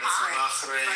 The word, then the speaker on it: Bahrain: I'm not Arabic. Bahrain. It's pronounced Bahrain. Bahrain. Bahrain. Yeah, like Bahrain, but Bahrain. No, Bahrain.